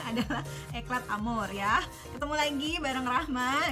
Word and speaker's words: Eclat Amour: Kita sepakat dulu bacanya adalah Eclat Amour ya.